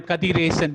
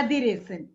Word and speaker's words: Kadiresan: I am Kadiresan. That's how it's pronounced. yeah, Yeah. Kadiresan.